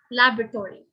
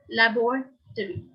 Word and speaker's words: laboratory: of the words right the north americans tend to pronounce this word in three syllables syllables three syllables means three sounds laboratory laboratory this is where